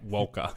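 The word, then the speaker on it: Walcha: do know that place it's pronounced WKA Walker yeah whatever um new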